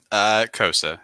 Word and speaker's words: Kosa: Kosa. Yeah, I pronounce it.